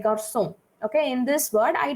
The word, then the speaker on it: garçon: So I don't want that K sound. I want the S sound as garçon.